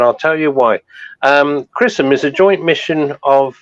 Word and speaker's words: XRISM: x r i s m uh but it's pronounce chrisum as you said um and it stands for